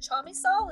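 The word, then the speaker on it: Chamisal: and were merged with is it chamisol is that how you say it yes it is and what's interesting because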